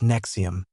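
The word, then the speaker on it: NXIVM: Nexom, pronounced Nexom, was presented to the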